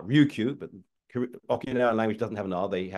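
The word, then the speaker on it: Ryukyu: okan call Okinawa uh the Japanese pronounced it with an R Ruku but okan language doesn't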